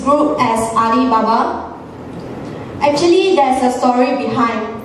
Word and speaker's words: Alibaba: It is pronounced as Alibaba regardless in English or in Chinese.